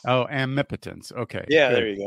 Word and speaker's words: Amipotence: So how do you pronounce it? I say it Amipotence. Oh, Amipotence.